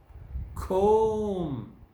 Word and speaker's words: comb: trouble table problem Clym comb some notice the really silent it's not pronounced this column and the